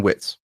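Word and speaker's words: Wittes: So the person who was the second voice in there is a man named uh Benjamin Witz or Wittis as some people pronounce it and he is not an unknown person.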